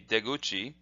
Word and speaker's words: deguchi: is de, and then this is guchi or kuchi, but together they would be deguchi.